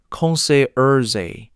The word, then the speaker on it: concierge: Concierge, pronounced concierge, is a person at a hotel whose job is to arrange things outside the room.